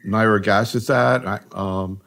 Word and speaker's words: nirogacestat: Maybe we ought to start talking about these new agents, particularly nirogacestat. Actually, I heard you pronounced it differently.